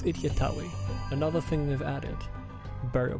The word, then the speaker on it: Itjtawy: am not a pharaoh I was saying it wrong it's idiotawi another thing they've added